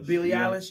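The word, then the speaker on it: Billie Eilish: say her name you said it right Billy Billy Alish you know what I'm saying so I guess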